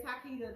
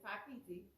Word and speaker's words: Takiti: And if you say Takita, that's wrong because that's not how you pronounce her name. Her name is Takiti, just as it's spelled.